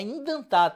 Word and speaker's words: indentar: É indentar, tá? Tem esse N aqui chato para a gente pronunciar.